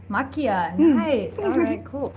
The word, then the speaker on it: Maquia: a writer of Mike how do you say it Makia look yeah machia so tell me a